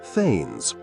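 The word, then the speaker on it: thegns: Below the kings were the faines, pronounced faines. Yes, like in McBth.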